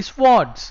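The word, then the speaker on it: swords: water this ward nahi Kanna it will be Swartz right Eastern si up go pronounce karna has Ward's okay after squads went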